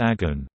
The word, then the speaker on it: огонь: The word Agni is Sanskrit for fire, noun, cognate with Latin ignis, the root of English ignite, Russian ogon, fire, pronounced agon.